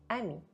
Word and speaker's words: amie: But if e is at the end of the word, I don't pronounce it.